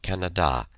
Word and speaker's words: Canada: ask me questions about Canada they put the accent on the third syllable Lena had been to